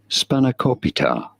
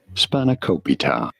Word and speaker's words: Spanakopita: How do you go about pronouncing it? Spanakopita. Spanakopita.